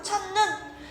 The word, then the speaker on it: 첫눈: 그래서 첫눈 같은 경우도 하늘에서 내리는 눈을 얘기하는 거잖아. 근데 이때 눈은 첫 음절이 아니라 두 번째 음절에 있어. 그렇기 때문에 길게 발음하지 않고 첫눈, 한 방 이렇게 짧게 발음한다라는게 원칙이다라는 거.